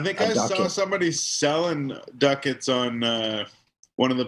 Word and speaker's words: Ducats: reason way back then i decided i'm gonna spell it like the dictionary spelling and not do it phonetically which i always felt you know played against me because everybody says do cats but that's okay i